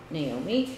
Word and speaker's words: Naomi: naom people say what which do you prefer Naomi or Naomi and I'm like I don't really care but I say it myself Naomi and it that's how it's spelled you know and like